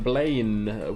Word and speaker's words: Blaine: Blame power. No, not blame. Blaine with an N. It's spelled a bit differently. Not like the to blame somebody.